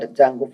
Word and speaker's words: Django: And now we are going to be entering is an advanced Python Django framework. D is silent in this word called Django framework.